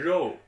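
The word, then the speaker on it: 肉: C'est pas Joe, c'est Ro.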